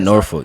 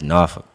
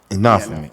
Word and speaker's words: Norfolk: not Norfolk. It's Norfolk. Norfolk.